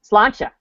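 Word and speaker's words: Sláinte: like it's like um slancha that doesn't look like slancha when you look at it what is it yeah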